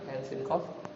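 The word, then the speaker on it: عسق: Jadi bacanya gini. Ya, Ain, kan ini ain ya, ain. Kemudian ada sin, ada ko. Ya, jadi bacanya ain sin qaf. Gitu ya. Jadi ketika ain kan ada nun sukun nih, kita musir. Itu di sini dibaca ikhfa. Tahu ya ikhfa ya, kita ajarin.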